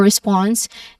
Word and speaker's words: response: For forward, the stressed syllable is on the first syllable for, and for response is on the second syllable.